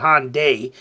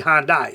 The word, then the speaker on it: Hyundai: how you say it said Americans call it Hyundai um and people over there go with it but it's actually hondai so haha take that